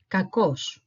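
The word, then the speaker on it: κακός: alt together it spells it sounds like this kakos kakos it means it's an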